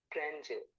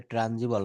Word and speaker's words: tangible: tune, tips, twin, tasty, tongue, treble, terrific, pretty, tangible, tangible. ট্যানজিবল, এটা ট্রানজিবল না, এটা আমরা কি বলবো?